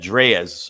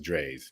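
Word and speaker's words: Drai's: Vegas I'll be at dreas I think I'm saying it right Dre not nope no how am I say I'm not saying it right just like the doctor dog just Drees Drees I'll be at Drees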